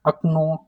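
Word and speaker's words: окно: see here window खिड़की हाउ to pronounce अकन अकन राइट अ कनो अकन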